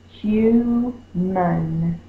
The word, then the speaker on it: human: Mun, it's not man. Remember, if we fuss at the dog, human, we stress this syllable. This one is unstressed, a single vowel, can say the schwa sound, human.